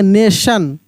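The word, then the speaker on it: nation: बहुत सिंपल करके एन ए टी आई ओ एन। क्या पढ़ेंगे? नेशन नेशन टी है।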